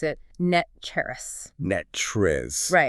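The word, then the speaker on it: NTREIS: that locals pronounce it net cherris. Net cherris? Right. The last syllable ends in a rus sound, exactly like the word rust. Net cherrus.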